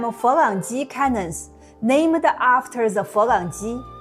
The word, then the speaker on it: Folangji: They called them Folangji cannons, named after the Folangji, the Chinese way of pronouncing Franks, which functionally meant Europeans.